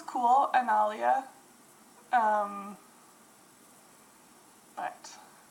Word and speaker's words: Analia: because it looks absolutely ridiculous um but it's pronounced analia and it spelled a-n-a-l-i-a obviously I don't know